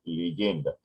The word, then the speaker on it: legenda: Está escrito legenda, pero se pronuncia leyenda.